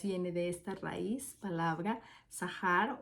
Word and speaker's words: זכר: de esta raíz palabra zahar o zajar eh a las siempre que vean cuando se está traduciendo algún idioma y que vean sea H se pronuncia como J en español entonces diría zaharias y